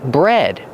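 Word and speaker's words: bred: Bread. Pronunciation. Use a short e like head and red. Bread. Just like the bread you eat, but it's spelled differently.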